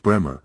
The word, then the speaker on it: Braemore: Of course, when we moved to Braemore, pronounced Bremer, says the Corps Company Sergeant, our only job was to get the 12th Corps and the Third Army to France.